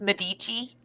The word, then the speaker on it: Medici: to you mama renaissance the american pronunciation is medici yeah sorry fabio i